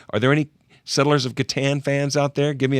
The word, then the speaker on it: Catan: It's spelled C-A-T-A-N. Well, if the C was a soft C, it would be Satan.